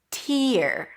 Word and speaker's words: tear: The first one is this tear. Tear as in don't shed any tears, right? When you cry, tears are running down your cheeks. Tear. Here it's pronounced with a t sound, then a high e.